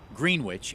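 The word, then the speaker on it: Greenwich: of people from the towns of Dana, Enfield, Greenwitch, and yes, that is the correct pronunciation, and Prescott.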